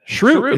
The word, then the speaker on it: cheroot: Shroot.